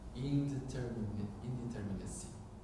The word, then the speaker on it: indeterminacy: This resonates with Masumi's notion of a zone of indeterminacy.